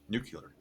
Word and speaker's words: nuclear: Can you say the correct way to say nuclear? Nuclear. Yeah, nuclear. And you could look at it and say it like this: nuclear energy. Nuclear energy.